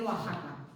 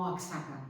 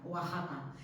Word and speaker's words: Oaxaca: se tiene que decir Oaxaca. Oaxaca, no Oaxaca, Oaxaca. Hay bastantes toponímicos en México que la llevan. Esta X, pero que se tiene que pronunciar J.